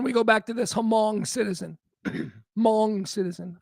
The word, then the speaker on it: Hmong: And, you know, not for nothing, but again, we go back to this Hmong citizen. Hmong citizen. I keep pronouncing the H, but whatever, that's what I do.